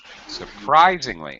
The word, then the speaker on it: surprisingly: mother okay surprisingly uh surprisingly yeah the um stress is on Rise surprisingly modern yes okay